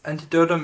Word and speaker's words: Antidotum: I think it's called Antidotum. I don't know if that's how you pronounce it. In Yeah, Poland. it's Antidotum Airshow in Poland, Leszno, yes.